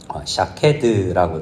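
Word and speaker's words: שָׁקֵד: 여기 지켜 그대로 이루려 함이라라는 지켜라는 데 각주가 있는데 성경에 보면 내려가 보면 살구나무라는 말과 지킨다라는 말의 발음이 비슷합니다. 살구나무는 히브리어로 읽으면 샤케드라고 되어 있는데요.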